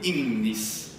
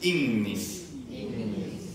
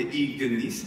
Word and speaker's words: ignis: manna, oh, che bellezza, incredibile dirlo, e poi Innis, Innis. Bene, però anche come abbiamo visto, secondo qualche romano, diceva anche Ignis e Magnus.